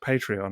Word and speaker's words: Patreon: of the show bit and talk about our Patreon and what have you. Sorry, Maz, you're going to tell me it's pronounced Patreon, aren't you, at that stage?